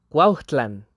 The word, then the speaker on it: Cuautlan: Así que la pronunciación real en náhuatl sería Cuautlan, que significaría lugar de águilas o lugar donde abundan las águilas.